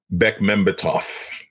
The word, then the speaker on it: Bekmambetov: How do you pronounce his last name again, Josh? Bekmambetov.